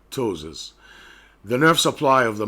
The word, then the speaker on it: ptosis: of the eyelid called ptosis ptosis the P is silent ptosis the nerve supply of